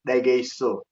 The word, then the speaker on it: dageso: So in Somali we say dageso. Dageso. There's no N, so the N is gone.